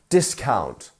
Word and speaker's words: discount: where abouts are we discount discount great first syllable right discount not discount discount